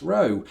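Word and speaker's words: Rowe: And I pronounce it thus, row. And I think, you know, the fact that it has an E on the end kind of informs my pronunciation that perhaps if it didn't, I might be confused as to whether it's row or row.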